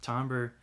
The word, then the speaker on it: timbre: might really enjoy the timbre of a headphone that's spelled kind of like timber with the r and the e switched but tomber is another thing you might get out